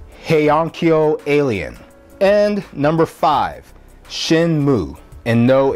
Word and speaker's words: Shenmue: And number five, Shenmue. And no, it's not Shenmue. If you pronounce it like that, it just sounds like you're doing a very, very bad Japanese impersonation.